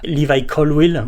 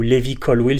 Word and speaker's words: Levi Colwill: Euh tout d'abord effectivement Liva Colwill ou Levi Colwill si vous souhaitez l'appeler euh et le prononcer de cette manière.